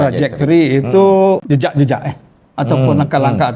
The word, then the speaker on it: trajektori: tre lah ya tak boleh tre lah trajektory lah senang tra trajor mari kita setkanlah trajektor traj trajektory itu jejak-jejak eh ataupun